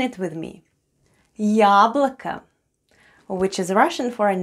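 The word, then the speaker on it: яблоко: of the word yablika the first sound is ya and it's stressed then goes then goes le then we have o both letters or are unstressed and pronounced as a yablika yablika try saying it with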